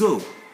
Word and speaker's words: os: So we have also included here two other words like un os for one bone and des os for many bones. The S there will not be heard also.